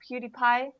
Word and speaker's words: PewDiePie: PewDiePie.